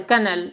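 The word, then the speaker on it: colonel: पर क्या हो गए रा साइलेंट होता है कनल ऐसे बोलते हैं ऑफ कन किसका दाना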